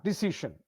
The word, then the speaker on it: decision: ction is correct yeah sh again decision decision decision sh decision is correct then similarly uh two